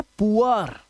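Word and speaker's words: poor: Double O के बाद आर अगर आएगा तो डबल ओ का जो उच्चारण है वो उआ करना है आपको। क्या करना है? उआ। याद रखना। अब देखो यहां पर यह है पुअर। यह है पुअर। अब इसे या बोर मत पढ़ लेना।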